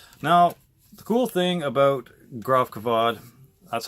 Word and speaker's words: Gravkväde: name for sure now the cool thing about Groff kavod that's how to pronounce it is that the the main guy